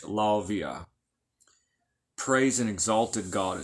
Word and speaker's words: Lauviah: Rudd in many, how they spell it in the Latin. It's Lauviah. Lavia.